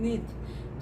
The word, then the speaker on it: neath: अब ये जो है NEATH, नीथ, तो इसका तो हम प्रोनाउंसिएशन नहीं जानते थे, यहीं रुक जाएंगे।